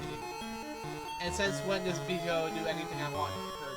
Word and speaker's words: bijou: And since when does Bijou do anything I want her to do? I couldn't pronounce it. Bijou. Bijou. Bijou. Bijou? Bijou. It's like bisou, but it's bijou. Bijou. Like jewel.